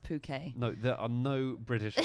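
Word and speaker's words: Phuket: annoyed with having to explain to every single British lad tourist who comes that it's pronounced puket no there are no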